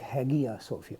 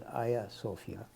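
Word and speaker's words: Hagia Sophia: Turkey the building is called a sopia like haia sopia but it's pronounced as a sopia um which basically really means sacred Temple essentially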